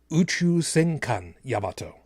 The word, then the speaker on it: Uchu Senkan Yamato: Properly pronounced, it's actually Uchu Senkan Yamato, which, of course, is the Japanese version.